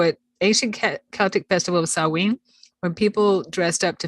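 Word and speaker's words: Samhain: Festival of saween but it's spelled s-a-m-h-a-i-n and I learned that it's pronounced sawing yeah because it looks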